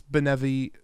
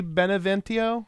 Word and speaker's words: Beneviento: House, I'm going to use the word benevolent to pronounce this, and I'm going to say it's Beneviento. House Beneviento. But it could also be Beneventio, but I think it's Beneviento.